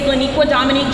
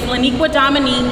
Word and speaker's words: Laniqua Dominique: My name is Laniqua Dominique. Laniqua Dominique is one first name. I want to distinguish that because I don't want you guys to get confused by the 16-letter, 6-syllable first name.